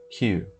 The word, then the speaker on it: queue: Queue. Eu sei, não parece, eu sei. A pronúncia é uma coisa, a escrita é outra, eu sei.